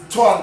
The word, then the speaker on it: Twan: what I had to do I found out Twan could work but I expected t-o-i-n-e as a